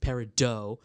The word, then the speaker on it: peridot: Even though certain stones, like peridot, is French, so it's pronounced peridot because the French are pretentious like that.